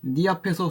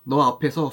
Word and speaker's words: 네: 니 앞에서 쑥스러운 뿐이던 너라 그래요. 네를 너 앞에서 쑥스러운 뿐이던 아나타노 마에데 소노토끼는 아나타 글자로 쓸 때는 네지만 아까처럼 니도 되고 너도 된다.